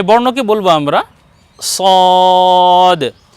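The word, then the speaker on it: صاد: দেখুন এটাকে বলবো আমরা সদ এ বর্ণকে বলবো আমরা সদ সিনের মত হবে না আবার সিনের মত হবে না এটা একটু পৃথক হবে উচ্চারণে একটু পৃথক হবে দেখুন স আমরা বলবো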